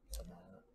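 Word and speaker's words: Šamanić: And a rookie, a Luka Samak, or Saman, how do you say this name? Samanic.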